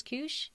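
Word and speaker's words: Keush: So Kush is short for, the winemaker's name is Kush Geryan. Oh. That's his last. And so that's the first syllable of his last name.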